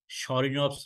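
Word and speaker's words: Chvorinov: শুরু করবো তাইতো এই ফর্মুলাটাকে সরিন রুল বলে উচ্চারণটা হবে সরেন কোন কোন বইতে সি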